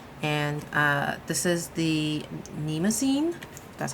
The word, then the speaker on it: Mnemosyne: not too heavy and uh this is the nemine that's how you say it and this is